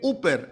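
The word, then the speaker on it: ὑπέρ: La la preposición por en griego se escribe uper. H U p E r. Uper yer significa en lugar de el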